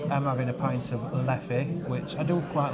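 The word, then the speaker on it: Leffe: So the lovely chap who's just fetched our drinks out, he's confirmed that you pronounce it Leff, not Leffy.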